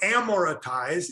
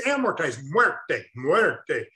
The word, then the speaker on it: amortized: doctor now so amortize is the second most mispronounced it's not a motorized or amoretized it's amortized anybody speak spanish here flute word they what's